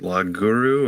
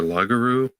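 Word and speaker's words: loguru: to pronounce it um l-o-g-u-r-u it's lag guru or lagaru not sure um and then so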